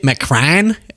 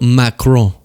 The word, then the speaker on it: Macron: Because I called her initially Bridget McCran, and I felt like that didn't sound right. But then I nailed Macron. I feel like that's pretty good. Macron.